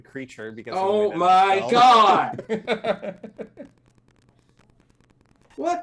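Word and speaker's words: Kreacher: did i did uh i always pronounce uh the other house elf as uh cretcher rather than creature because oh my god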